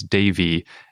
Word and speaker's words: devi: species name is davey it is spelled in a way because d-e-v-i where normally you might say it's like dev-eye or devi but since sri devi is a proper noun of something i think that's probably a better place a better way to